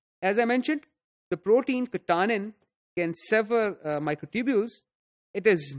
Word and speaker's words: katanin: if you remember beta katanin is a different protein it has a completely different function we talked about it when we were talking about APC so this word is pronounced as katanin not katanin Karin releases microtubules from